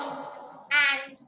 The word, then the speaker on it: et: Ant. A-N-D. A-N-D. A. Spelling is this. Ma'am, is it E-T? Yes, E-T. A. And the pronunciation is A.